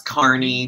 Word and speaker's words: Kearney: Did I pronounce that right? That's Kearney, but it's weird. Yeah. There you go. Kearney, Nebraska.